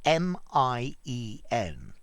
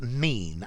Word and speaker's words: mien: the spelling of this m-i-e-n yeah looks like you should say mien but it's not it's pronounced mean as in what does mean mean and this is a